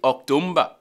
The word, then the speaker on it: October: Many people say October, October, October, October.